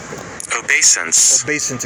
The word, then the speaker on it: obeisance: Obeisance, excuse me, I'm pronouncing it correctly.